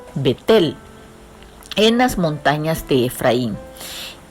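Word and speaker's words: בית אל: entre rama ebay y beit él que se pronuncia en hebreo vettel en las montañas de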